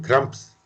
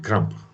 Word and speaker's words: crampes: Les S, oui, cramps. Non, on ne prononce pas non plus. On ne prononce pas non plus. 40, carottes, crues, croix, que croquer, crée des crampes.